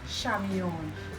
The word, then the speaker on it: Chamion: coming across this Z my first name name is spelled c h a m i o n it is pronounced shamon right um we are all